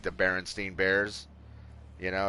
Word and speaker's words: Berenstain: but most of us remember Berenstein or Berenstein, like that's how I remember it. And then when all of a sudden I'm seeing people like, no, it's Berenstain, and I'm reading it, it actually is spelled that way.